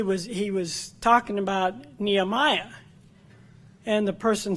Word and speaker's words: Nehemiah: and the person said nehemiah is that in the Bible what's that and he showed him where it was he said oh you mean Nehemia which may be the the hebrew way of pronouncing it and that's a